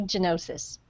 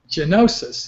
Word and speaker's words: Gianotsos: My name is Gianotsos. Gianotsos. Okay, I should have guessed that there was the Italian pronunciation there.